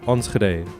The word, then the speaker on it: Enschede: Sorry, I also found out this is pronounced Enschede.